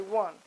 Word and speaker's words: one: That's how we would have thought to have pronounced it. We don't say own, we say one.